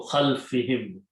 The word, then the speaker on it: خَلْفِهِمْ: Now pronounce again this as kasra, so khalfihim.